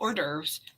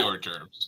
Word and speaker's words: hors d'oeuvres: So just so you know, you can just sit back, eat wonderful hors d'oeuvres, heavy Have hors fun. d'oeuvres. Yep. Yes. Yes, heavy hors d'oeuvres.